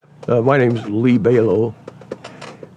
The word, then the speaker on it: Belau: My name's Lee Belau. Belau rhymes with halo, and I'm a retired U.S.